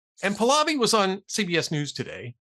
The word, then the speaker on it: Pahlavi: Pahlavi.